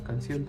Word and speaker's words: canción: La sílaba tónica recae en la última. Llevan tilde cuando terminan en N, S o vocal. Por ejemplo, podría ser café, un compás o la palabra canción también.